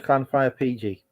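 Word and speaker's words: Llanfair PG: I can tell you how to pronounce it. It's Clanfire PG.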